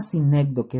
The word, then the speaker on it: sinécdoque: La sinécdoque, esa la pueden poner como un punto A.